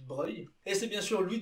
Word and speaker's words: Broglie: Attention, ça ne se prononce pas Broglie. Et donc il était vraiment prince. GL en italien ça se prononce vieux si je ne me trompe pas et c'est pour ça qu'on dit Broglie.